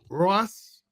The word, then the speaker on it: Rojas: Roas. You don't pronounce the J.